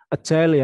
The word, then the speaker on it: Agile: ini ada Waterfall scrom Agil Agile ya bacanya Ya kemudian nanti ada